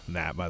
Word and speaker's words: NAB: it's just they they they spell it out NAB yeah I've heard